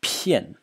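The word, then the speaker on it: 骗: And the last character in the series is pronounced pian.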